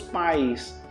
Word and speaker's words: paz: pais são separados meus pais e a gente pronuncia a palavra Paz da mesma maneira a gente coloca um I antes da letra Z Então fica assim ó pais o verbo fazer por